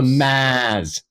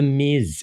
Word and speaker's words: Miz: Or the Maz. Like, it's the Miz.